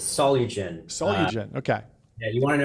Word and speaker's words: Solugen: We hate messing up pronunciations on this show. How are you doing? Good. It's It's Solen. Solugen.